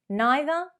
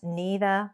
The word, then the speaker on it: neither: The same, neither would be British, but neither would be American.